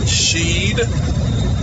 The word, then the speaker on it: Sheed: The name is pronounced Sheed. I know there's a bunch of I's in the name, but you